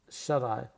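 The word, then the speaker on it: shut-eye: But we don't pronounce the T like that.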